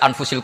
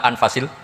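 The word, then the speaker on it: أنفس: saja di sini ditulis anfusil kutub kalau saya baca anfasil kutub karena maknanya kitab ter baik Kalau kitab terbaik bacanya bukan anfus tapi apa anfas ya nanti kamu debat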